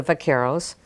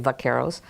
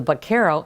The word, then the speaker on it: vaqueros: Cowboys come together the Vaqueros the Spanish is vaca for cow so they save Vaqueros but interesting they would pronounce it with the Castilian vaca buck Errol later on